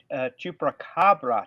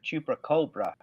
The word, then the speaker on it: Chupacabra: It's pronounced Chupacabra, not Chupacabra.